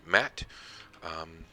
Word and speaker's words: Maat: the gentleman here named matt i've always pronounced it matt i don't know